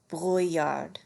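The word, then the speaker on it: brouillard: is foggy is do breard one more time breard kind of like Brew yard but with a rolly R it is snowing is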